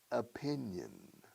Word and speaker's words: opinion: Fíjate cómo se pronuncia opinión. Como se dice opinión. O un piñón. De piñón fijo. Opinion.